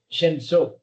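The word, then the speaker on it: שמשון: Shemso.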